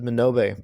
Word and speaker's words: Minobe: Minobe?